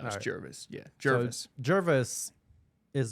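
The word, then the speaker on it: Jervois: How do you pronounce that? Jervis. Jervis. Jervis. It's not Jerva. No, it's Alright. Jervis.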